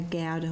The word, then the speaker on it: Gouda: And that's a Devon farmhouse, and that's camembert, and that's a gouda, which is pronounced gouda. Gouda. Gouda. You've got to get the rumbling from the back there.